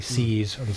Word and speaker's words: See's: owned this candy company sees you know I'm pronouncing it sees spelled se e apostrophe s sees candy as the